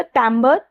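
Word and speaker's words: timbre: हमारा अगला वर्ड है सो इट्स अ टमबर और टिमबर। टमबर भी बोल सकते हैं, टिमबर भी बोल सकते हैं। नाउन है यह। तो टिमबर या टमबर मैं यहां पे टमबर बोलती हूं।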